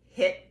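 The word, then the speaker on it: HIIT: and also gabby's uh hit the beach but it's spelled h-i-i-t the beach her program was awesome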